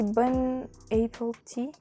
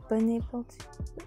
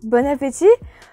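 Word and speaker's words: bon appétit: april tea a lot of french people say bun april tea bun april tea what is it bon appetit bon appetit this is how you pronounce it bun april tea oh never saw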